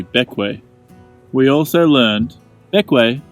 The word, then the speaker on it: Bequia: fully discovering the ways to pronounce pequea is actually back way we also learned back